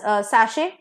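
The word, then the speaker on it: sachet: होती है नेक्स्ट इ सशे सेम pronunciation again S ए सी एच ई टी is pronounced as सशे टी जो है वो साइलेंट रहता है सशे क्या होता है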